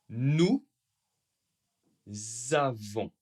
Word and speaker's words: nous avons: Alors pour nous comme toujours, attention le S n'est pas prononcé sauf si et bien oui, il y a une voyelle.